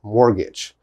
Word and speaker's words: mortgage: a the long a mortgage so this is important mortgage but this t is not important okay mortgage mortgage never